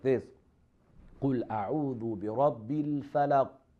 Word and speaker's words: الْفَلَقِ: So we have to say like this: قُلْ أَعُوذُ بِرَبِّ الْفَلَقِ. That is the echoing sound of the letter Qaf.